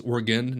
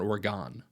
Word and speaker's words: Oregon: portland oregon business actually i mispronounced that it's oregon you know if you're going out there it's oregon not oregon okay they will tell you but i went out